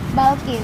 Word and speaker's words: Balqish: Balkis apa Bilkis ini? Balkis. Balkis, nama lengkap? Balkis.